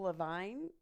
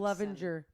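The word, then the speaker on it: Levinger: Levenger. Lowell Levenger. Did I say it wrong? Yeah, I did. You're missing a letter in there.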